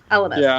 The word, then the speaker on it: Elemis: Elemis.